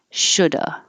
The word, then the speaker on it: should've: the sh should've but most of the time you don't hear a v at all uh and if you are going to make the v you don't have to make a perfect strong could have would have should have you can just make a a slight v could have would have should have or you can just drop the v completely and this changes to uh coulda woulda shoulda and that's that's most